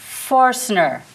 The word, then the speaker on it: Foerstner: I'm mispronouncing it. Jon is the director, and Foerstner.